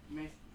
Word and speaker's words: masochist: It's spelled. It's MASOCHIST.